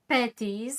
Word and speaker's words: Petties: Today's guest is Michelle Petties. I hope I pronounced your last name correct.